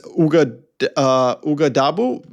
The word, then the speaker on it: Ouagadougou: Yes, it's Ouagadougou. Wait, Wow. something Okay. like I wasn't even going to try to pronounce it, but I see that you have it there.